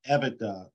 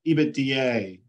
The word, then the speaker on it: EBITDA: Phil um even uh you probably heard it pronounced ebitda ebitdier or 100 different ways I I pronounce it even but it stands for